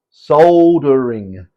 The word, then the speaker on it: soldering: and half the world soldering and the Americans say soldering it's a silent L for some reason so why don't you